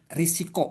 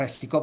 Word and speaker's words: risiko: Nah, di dalam hidup itu ada yang disebut dengan risiko atau resiko kita bacanya ris ya.